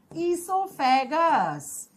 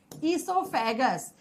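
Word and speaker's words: oesophagus: ईसोफेगस। ईसोफेगस लिखा जाता है ओ से, लेकिन जब हम प्रोनाउंस करते हैं तो ओ साइलेंट हो जाता है।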